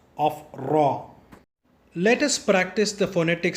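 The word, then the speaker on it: ر: Now let us go to the letter Re or Raw. Raw in the sense R-A-W. Remember raw and not the Ra.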